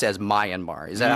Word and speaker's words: Myanmar: of geography in Asia I i pronounced as Mayan mar is that how you pronounce it i would say myanmar yanmar yeah let's get more of the Korean